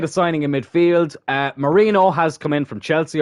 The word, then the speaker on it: Mourinho: signing in Midfield uh Mourinho has come in from Chelsea or Moreno it's spelled Mourinho but I've heard people call him Moreno so like we're probably